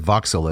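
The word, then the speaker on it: Vauxhall: UK uh Mrs Noy and I rented a voxel a voxel yeah it's v u x h a l l I believe is the spelling but they pronounce it voxel as only the British wood yeah right and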